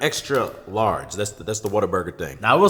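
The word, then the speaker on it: Whataburger: place you can see it's spelled like what a burger like oh what a burger but in Texas they pronounce it Like Water Burger and if you say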